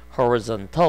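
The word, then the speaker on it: horizontal: 하와이 쓴 더욱 인데요 발음이 그와 잇으니 거는 하울 썬 터 5 이렇게 발음이 됩니다 어렵죠 요거는 근데 수평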